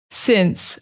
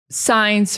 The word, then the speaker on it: since: Since. Another simple word, but a lot of students will say science or science or whatever.